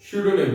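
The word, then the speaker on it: pseudonym: देखिए पी यहां पे साइलेंट है, ठीक है, तो जब भी हम इसका प्रोनाउंसिएशन करेंगे, जब हम रिटन करेंगे इसको तो पी लिखेंगे, लेकिन जब हम प्रोनाउंसिएशन करेंगे तो स्यूडोनिम बोलेंगे, पी नहीं आता, पी साइलेंट रहता है, फिर लिखने में आता है बस।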